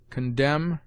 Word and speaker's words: condemn: N is sometimes mute after M, as damn, condemn, him.